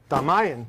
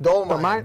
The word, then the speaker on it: Dolman: Dalmanian. Dolman. Dole. Oh my God. Like the pineapple.